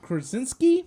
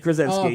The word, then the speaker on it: Krasinski: rumor is, I don't know if you read the article, John Krasinski? Yes. Did I say it right? I fucking Krasinski. said it right. Yes, you did. Krasinski, yes.